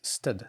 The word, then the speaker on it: std: try to pronounce them some people pronounce std as stud including stefan t lowerwade this could be a good approach if i'm reading out loud it will be stud vector wind if i'm